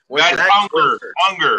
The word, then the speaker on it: Unger: Unger.